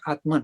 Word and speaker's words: Atma: The pronunciation is Atma, not Atman, but made in English we make it Atman and Brahman, but it's Atma, Brahma.